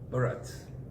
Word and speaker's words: Bharat: And the word Bharata means the family of the Bharats. The man's name is Bharat with an A sound, but his children or family are called Bharat.